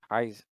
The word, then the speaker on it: Kaisen: Um, I think you got Kaizen, to go for Kaiser, but miss the R and replace it with an N. Kaizen.